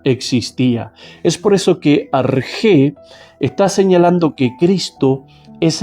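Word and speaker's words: ἀρχή: Es un sustantivo que se pronuncia arg.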